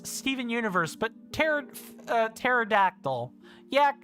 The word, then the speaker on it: Stephen: It's not with a V. It's not Stefan with an F. It is Steven with a PH. It's said exactly like a V.